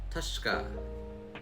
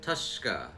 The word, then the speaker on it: Tushka: It's pronounced Tushka. Tushka, which means warrior in the Choctaw language.